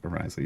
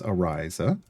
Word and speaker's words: Ariza: Ariza. Yes, that's how you pronounce her name. It's Ariza. Solok is in 2.